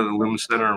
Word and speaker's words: Lumen Center: Is it the Lumen Center? Did I pronounce it correctly? Yep. The Lumen Center, we're located in Bryn Mawr.